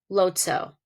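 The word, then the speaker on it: lóóʼtsoh: The military term for battleship, the Navajo code word is whale, and the pronunciation of the Navajo word would be lo tso.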